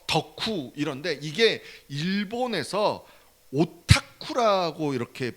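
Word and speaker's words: オタク: 덕덕 짜 썩 써 덕후 이런데 이게 일본에서 오타쿠라고 이렇게 발음을 한다는 거예요 근데 이게 일본에서 어떻게 나왔냐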